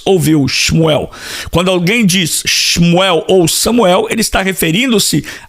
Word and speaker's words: Shmuel: Outro nome, Shmuel ou Samuel ou Shemuel, como alguns pronunciam, né?